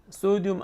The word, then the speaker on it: 소듐: 양이온 such as sodium, 나트륨이라고 쓰고 소듐이라고 읽는다. 칼륨이라고 쓰고 포테슘이라고 읽는다. 왜 영어식으로 읽는 게 아직까지는 더 국제적으로 인정받기 때문이죠. 그죠? 워터보다 물 분자보다 소듐 아이온이나 포테슘 아이온은 1억 배 정도 더 잘 못 들어온다.